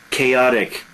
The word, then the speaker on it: chaotic: Chaotic. I hear more and more this word in Korean. Chaos, chaotic. Notice the pronunciation. Chaos, total disorder. Chaotic behavior, wild, unrestrained.